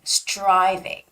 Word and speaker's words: striving: and the word striving striving okay so when there is the T and R together it sounds more like a CH sound right so it's striving